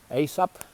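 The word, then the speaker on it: Aesop: uh the fables of ASAP that's how you pronounce asop ASP the Greek uh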